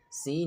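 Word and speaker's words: س: Then seen seen is pronounced with the tip of the tongue near the lower teeth without touching same like Zaha.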